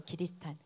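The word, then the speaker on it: キリシタン: 신부들의 모습들이 그려집니다 또한 기리시탄이라 그래요 일본 발음으로 기리시탄 우리 크리스천들 기리시탄이라 부르는 그리스도인들을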